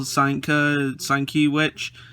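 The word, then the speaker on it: Sienkiewicz: and influences with legendary marvel illustrator bill bill seinka sign that's how you say it meet the new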